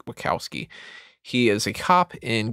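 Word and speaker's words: Wachowski: to this family uh Tom wowski or wowski I think they had pronounced it wowski he is a cop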